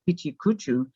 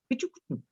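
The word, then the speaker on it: ペチャクチャ: She had to correct somebody yesterday, explaining when they say pichikuchu, that's not how it's pronounced. They said it very British-like. And she explained that it's pronounced pichikuchu, pichikuchu, which means chat, just chatter, chatter.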